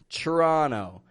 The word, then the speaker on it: Toronto: Toronto CH Toronto now Toronto is spelled t o r o n t o but I'm saying trra trono kamam could I hear